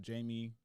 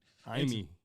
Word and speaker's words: Jaime: Upon arrival and after conducting an investigation into what took place, officers found that 32-year-old Jamie Baldo, that name, y'all see it on the screen. Jaime.